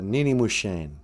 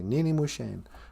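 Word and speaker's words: niinimoshen: say girlfriend in Ojibwe well a girlfriend like your sweetheart is a Nini musheen for my sweetheart you say Nini musheen I'm always calling Natasha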